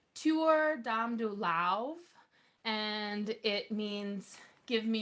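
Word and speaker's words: Tabhair Dom Do Lámh: looks on paper it looks like it says tab haired um dole am and we didn't know how to how to pronounce that so I just asked if there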